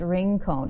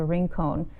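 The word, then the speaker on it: Rincon: lot of activity on here um ranone is pronounced ring cone okay thank you for clarifying and if you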